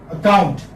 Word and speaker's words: account: So we are in fact giving stress on the second syllable.